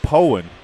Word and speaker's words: Poen: And it is pronounced Poen. Shout out to Poen. Coach Bill Taylor for correcting me on that.